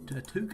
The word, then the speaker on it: toque: Or how do you pronounce this word? We'll make a toque, I think it's called. A toque, that's how it is, yeah.